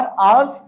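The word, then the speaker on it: hours: last तू स और अवर्स बोलते समय हा बिल बी साइलेंट हर हा को नहीं बोलना है और लास्ट का मतलब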